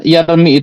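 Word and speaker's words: يرمي: Nah, aslinya yarmi itu yarmiu yarmiu aslinya begitu. Nah, tapi karena pengucapan yarmiu itu berat ya, maka ya dia di ee hilangkan ya sehingga tanda rafaknya nanti damah muqaddaroh ya sebab ya tidak dinampakkan adalah fiqal ya berat.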